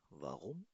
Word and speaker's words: warum: Warum? Warum? Einfach. इस warum में जो R है, spricht man R mit Rein aus, ना? इस R को हमेशा Rein से प्रोनाउंस किया जाएगा.